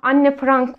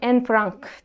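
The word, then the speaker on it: Anne Frank: güzel bir film yine anne Franz vardı sanırım en Frank diye okunuyor Muhtemelen onun filmi de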